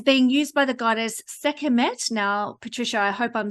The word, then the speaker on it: Sekhmet: Am I saying you're very close, and everyone has trouble with it, but yeah, it's Sekhmet. Sekhmet. Because you have the KH, yes.